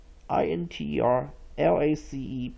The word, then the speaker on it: interlace: And therefore, INTERLACE pronounced as interlace.